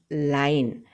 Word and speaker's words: lion: इफ़ we change the pronunciation of लॉयन a little bit by speaking लाइन, अगर हम LION यानी कि लॉयन को लॉयन न कह के लाइन कहें, then it may rhyme with word dine.